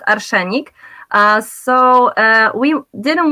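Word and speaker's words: arszenik: the poison but in polish it's arsenic it's pronounced archanic uh so uh we didn't want to use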